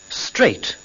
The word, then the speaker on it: straight: İngilizce'de T'den önce gelen G, H harfleri okunmaz. Şu kelimeleri tekrarlayarak bu kuralı öğrenin. 8. Straight.